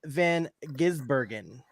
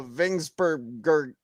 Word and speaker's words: Van Gisbergen: It is Shane Van Gisbergen. Or if you ask Jeff Burton, as my name is now, Vingsbergren.